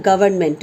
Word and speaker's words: government: So though this N is not pronounced, but you have to write the government.